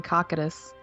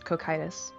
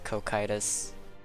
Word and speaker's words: Cocytus: Alright, according to YouTube, it's cocytus. The second C makes a K sound. It is pronounced as cocytus.